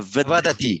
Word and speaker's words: vadati: if you're not Italian, there's a temptation to pronounce it as ati, as in Maserati and Frascati.